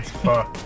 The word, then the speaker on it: Pho: That's PHOKING. And for anyone who would pronounce it Pho King, Wrong. Pho.